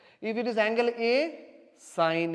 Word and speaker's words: sine: as the small way is sign actually not seen so don't Mehmed II call pronounced like seen is not as seen is a sign okay si any but in short we are